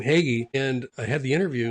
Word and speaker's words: Hagy: And I said my name, Hegy, and I had the interview and and somebody kept coming out and asking me my last name and could you spell it? I'm like, Hegy, you know, H A G Y.